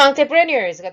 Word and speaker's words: entrepreneurs: Some entrepreneurs가 되는데요. 프랑스어라서 조금 발음이 재밌죠.